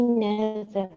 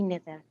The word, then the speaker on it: neither: Me neither. I don't work at the weekends. Me neither. All right. Of course, neither is sometimes pronounced أحيانا ينطقوا فيها neither, and sometimes it's neither. Neither. Both are okay.